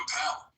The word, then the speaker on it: Appel: I did intend with a ish ending to give a little nod to the ish movement started by Steve Appel, which rhymes with Steve Carell, and both funny intellectual